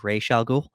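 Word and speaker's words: Ra's al Ghul: Raz al Ghul and I'm going to use that pronunciation because that's the pronunciation that Nolan went with um if you're a fan of the Batman the Animated Series they went with a different pronunciation Rey shalgoo and yeah let's get you know we're getting sweaty again yeah raise Ray Charles in a lot of the video games and animated it's always been race but for whatever reason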